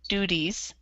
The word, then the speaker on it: duties: So that this T basically sounds like a D. So duties.